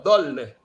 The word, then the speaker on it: D'olne: Como é que pronuncia, professor? Dolne? Dolne. Dolne. Não, Dolne. Dolne. Dolne. Dolne. Dolne. É de origem belga.